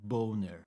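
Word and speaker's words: Boehner: this US congressman and his surname actually should be pronounced boner it's of it's of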